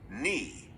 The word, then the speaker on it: knee: not, knife, knee. These are all Viking words. But somehow we have lost the first sounds, and now they are silent. Shh. But look, there is a pattern. A silent K comes in front of N.